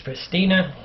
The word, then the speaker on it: Pristina: I'm in Pristina Pristina I'm not sure exactly ever how to pronounce this word but I think it's Pristina the girl in the stores kind of makes the tea sound different like an S okay Alex D ask